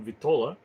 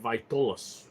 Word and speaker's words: vitola: couple of people mentioning, when you mention vitola, couple of people pronounce it vitolas, which I don't think is correct.